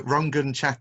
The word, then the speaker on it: Rangan: Rangan Chatterjee. So R-A-N-G-A-N, Rangan, phonetically, Chatterjee.